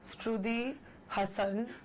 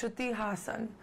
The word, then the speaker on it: Shruti Haasan: name and my surname so I get Shruthi Shruthi Shruthi Hassan no it's Shruti Haasan and I would really love if you could say it that way my first job ever